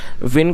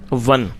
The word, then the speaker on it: won: आप में से कई लोग इसको वॉन पढ़ते हैं तो आपको इसे वॉन नहीं पढ़ना, वॉन एक गलत प्रोनाउंसिएशन है। ये इसकी जो सही प्रोनाउंसिएशन है वो है वन, और ये जो WON